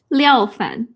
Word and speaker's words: Liao Fan: So how do you pronounce his name again? Liao Fan.